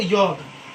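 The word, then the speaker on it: yolk: और एल के बाद के आए तो एल साइलेंट होता है। तो इसे बोलेंगे योक और आगे क्या है?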